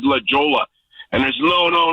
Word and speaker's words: La Jolla: kind of dogging you because you didn't say La Jolla correct, right? And I was in La Jolla. And I didn't even say it right. I said La Jolla. And there's no, it's La Jolla.